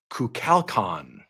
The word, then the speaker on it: Kukulkan: I don't know how K-U-L, you get Cal out of that, but I'm going to go with it.